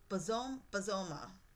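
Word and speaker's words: Bozoma: And even I don't know why I keep getting her name wrong. It's Bazoma.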